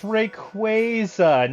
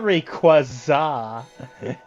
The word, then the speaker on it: Rayquaza: another Rayquaza Rayquaza it's requisite it's Rayquaza not Rayquaza it does sound like